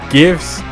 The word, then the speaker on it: GIFs: thing at a time it's pronounced memes and gifs with the hard g oh i'm with the